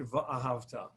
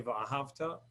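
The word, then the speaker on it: וְאָהַבְתָּ: Just a technicality on the word va'ahavta. We often say va'ahavta, which means, and you once loved God, which is the wrong pronunciation. Va'ahavta, and you loved. That's wrong. Va'ahavta, and you shall love.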